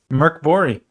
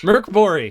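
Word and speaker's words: Mörk Borg: first episode of the series morkborg how's it pronounced Caleb Merc bori Merc bori every time allegedly uh we are going to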